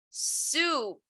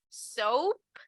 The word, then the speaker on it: soup: liquid so okay so this is going to be soup soup soup now we have to be very careful here because if i say soap soap is javon so you guys could tell me oh i eat soap for lunch every day so you're saying that you're you would be saying right so soup not soap right okay uh next